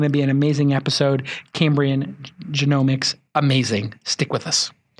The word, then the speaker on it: Cambrian Genomics: And as you can see, we're on location today, and we're here at Cambrian Genomics. I pronounced it correct?